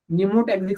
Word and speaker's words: pneumotaxic: तो मैं इधर लिखता हूं न्यूमोटैक्सिक सेंटर, पी साइलेंट है, न्यूमोटैक्सिक सेंटर आरआरसी वाला, या पॉन्टिक सेंटर बोलते हैं उसको, पॉन्टाइल भी बोलते हैं, पॉन्टाइल न्यूमोटैक्सिक सेंटर।